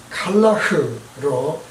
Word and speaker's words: Calah: 갈라의 원래 발음은 칼라흐로 니무롯이 세운 성읍입니다.